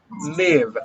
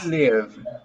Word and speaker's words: live: wait wait okay live remember that you say live i live is the verb live